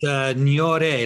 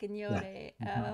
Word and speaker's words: Gnahoré: Now, Dobet Gnahoré, is that how you pronounce her name? It's Gnahoré, like with like gnocchi, you know, gnocchi. Like Gnahoré.